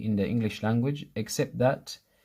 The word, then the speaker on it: ث: An easy way of remembering tha is to remember the letter 3 or the number 3. 3, the beginning of 3 is the same pronunciation as tha.